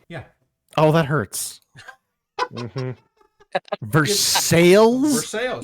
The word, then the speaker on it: Versailles: Versales.